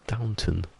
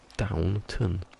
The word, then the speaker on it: Downton: That sword hasn't actually seen it there, I guess, because it's Downton. Downton. It's not anything posher than that.